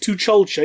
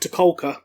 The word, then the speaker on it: T'Chulcha: And apparently it is actually pronounced T'Chulcha, even though personally I would have pronounced it T'Kolka.